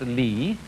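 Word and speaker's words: 理: world do you remember this word which is pronounced li and which had as its original meaning the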